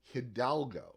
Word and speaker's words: Hidalgo: d a g o hildo that's not the way it's spelled it's not it's Hidalgo correct hialgo H correct right